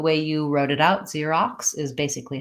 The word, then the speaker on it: Xerox: you're saying Xerox yeah I think we kind of do an ear see rocks so whether this is an ER or just an R remains to be seen we have to glide in between so we have to do the e the our son and then we have to go into the ah ah Xerox and then we have